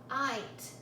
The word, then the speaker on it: night: Night. Notice that there are two letters, G and H, which are not making any sound here, but are working together with I to create that long vowel I sound.